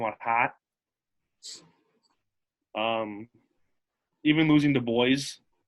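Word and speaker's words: Dubois: hot um even losing the boys no it's spelled d-u-b-o-i-s so it's the boys the boys saturdays are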